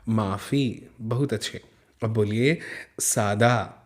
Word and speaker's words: माफ़ी: अब यहाँ पे हम फ नहीं पढ़ेंगे क्योंकि फ के नीचे बिंदी लगी है, नुक्ता लगा है, तो इसे बोलेंगे फ, माफ़ी।